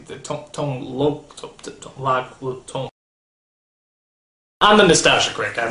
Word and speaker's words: Tone Lōc: it did teach me the proper way to say tone lock tone loone I'm the noasa cck